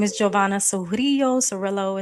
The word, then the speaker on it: Surillo: Serillo is how it's pronounced.